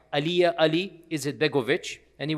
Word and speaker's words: Alija: Uh his name is Aliyah. There's a J in it but the J is pronounced Y. Aliyah Ali is Begoich.